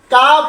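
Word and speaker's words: calf: তার আগে লেটার যদি এল হয় তখন এল সাইলেন্ট হয়ে যায় কাফ হাফ কাম ফর্ম এইরকম ওয়ার্ড অসংখ্য লেটার বইয়ের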